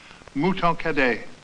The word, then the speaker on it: Mouton Cadet: Mouton Cadet. It rhymes with hooray.